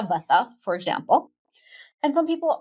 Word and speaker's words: Vata: They are what we call in Ayurveda Vata, Pitta, and Kapha. Here in the West, we pronounce those Vata, Pitta, and Kapha.